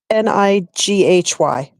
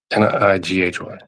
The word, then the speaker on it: Nighy: He's in spell it. Bill N-Y Nighy. Nighy.